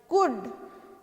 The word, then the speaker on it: could: Night, कुड, कुड, तो इसमें क्या साइलेंट होता है, एल साइलेंट होता है, कुड, है ना, COULD, कुड। तो ल कहाँ बोल, कुल्ड कहाँ बोल रहे हैं